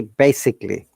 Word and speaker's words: basically: So all this A, the second A, like in before ALLY, A is the schwa sound. So it should be basically, not basically. I'm going to show you in a moment.